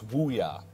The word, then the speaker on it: Ouya: Yeah, we also just got a sort of a correction on the pronunciation. It's Ouya for the Japanese player here. So Ouya versus Coco Sasa.